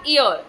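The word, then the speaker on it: heir: अब यहां क्या लिखा? ईयर। एच क्या रहेगा? साइलेंट रहेगा।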